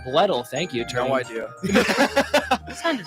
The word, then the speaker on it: Bledel: Bledel? Bledel, thank you.